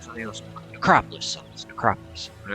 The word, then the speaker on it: Necropolis: like one of my streams and if I pronounce something wrong, he'll be sure and tell me like I would say Necropalis. It's like something else necropolis.